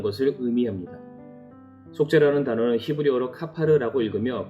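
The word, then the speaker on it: כפר: 속죄라는 단어는 히브리어로 카파르라고 읽으며 그 뜻은 덮는 것을 말합니다.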